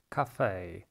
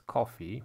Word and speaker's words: café: Café, bouquet, buffet, opera, genre, cliché. Pierwsze słówko café, kawiarnia. Wiele osób źle to wymawia, mówiąc coffee, myląc z kawą.